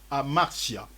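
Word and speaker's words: ἁμαρτία: D'abord, par définition, le péché parle, en grec, le mot péché explique amartia. Amartia, ça s'écrit avec H.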